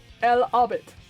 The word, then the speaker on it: El Hobbit: So, The Hobbit, in Spanish, because I own the book, is El Hobbit. El Hobbit is literally spelled E-L-H-O-B-B-I-T. So it's still Hobbit. It's just the H is silent.